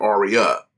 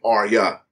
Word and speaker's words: Arya: been pronouncing wrong I know that I always pronounce it like are we up but it's really pronounced like Arya boys two syllables Arya after all these years